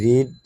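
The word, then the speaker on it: read: যেহেতু অলরেডি রিড এবং রেড spelling দুইটাই সেম। বাট প্রোনাউন্সটা difference. আমরা যদি প্রেজেন্ট ফর্মে বলি তো সেটা হবে রিড। যদি পাস্ট ফর্মে বলি সেটা হবে রেড। But spelling same.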